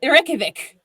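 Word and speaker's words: Reykjavík: Who can pronounce the capital of Iceland? Anyone? Ooh. Do I go? Yeah, go for it. It's Reykjavik.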